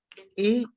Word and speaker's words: et: A is my and. Literally meaning of et. Et. Et is my Et and. And. A. And we pronounce like A.